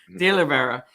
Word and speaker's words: DeOliveira: How am I pronouncing that correctly? Yes. DeOliveira. All right, cool. DeOliveira.